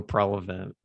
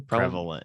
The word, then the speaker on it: prevalent: And I'm happy to say that that like sense of heart is like still so prevent did I say it right that time? Prevalent. No, you said prevalent. That's prevent. Prevalent.